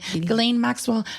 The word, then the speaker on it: Ghislaine: That's how you say her name, Ghislaine Maxwell.